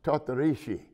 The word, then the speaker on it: Tortorici: It was pronounced Tortorici. Wow. Italian pronunciation.